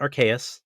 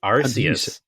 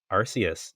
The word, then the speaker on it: Arceus: going to be controversial pokemon legends arceus not archaic not arceus it is arceus arceus even the japanese pronounces it arceus oh you say that wait